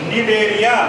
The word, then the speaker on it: Cnidaria: नाम होता है बच्चों निडेरिया। क्या बोलते हैं इसको? CNIDARIA। इसमें सी साइलेंट रहता है बोलने में।